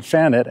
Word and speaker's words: Fanette: And by the way, I was pronouncing it correct. I heard a local call it Fanette, and I thought, oh, well, they know more than I do.